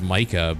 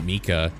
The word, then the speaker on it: Micah: nine and i and mika or micah i always thought it was micah but he pronounced it mika i like her too